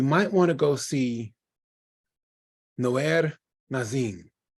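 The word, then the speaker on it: Noair: want to go see No Air nazin how do you spell that it's n o a i r like nowhere in a the last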